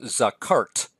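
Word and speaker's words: זָכַרְתְּ: The only difference is that the ending is a tav with a silent shawah. So we have zakart. Zakart. Actually, we have 2 silent shawahs next to each other.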